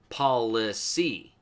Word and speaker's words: police: In Old English, it's actually pronounced policy. Sound it out. P-O-L-I-C-E. Policy.